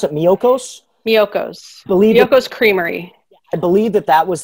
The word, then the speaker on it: Miyoko's: attendees, I just put the how do you pronounce it? Miyoko's? Miyoko's.